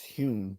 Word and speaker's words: Hume: Hume his name his his last name was originally spelled h o m e like home but in Scottish is Hume so he actually changed